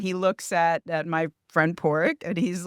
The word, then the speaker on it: Padraic: His name is Porrick, but it's spelled, that's how you say it phonetically, but it's spelled Padraic.